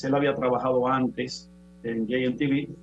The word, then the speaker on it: JMTV: Las siglas se pronuncian en inglés. JMTV, así le conoce todo el mundo aquí en Sosúa.